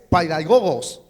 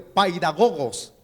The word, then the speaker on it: paidagogos: una expresión griega y la expresión griega es pedagogos así se escribe así como usted lo está viendo paidagogos Qué es un paidagogos algunos cuando estudian la Biblia se refieren y confunden la expresión un pedagogo pero la expresión correcta